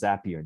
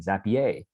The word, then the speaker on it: Zapier: value from this session you know how to pronounce zapier now and you could lord it over others who keep saying zapier okay okay so um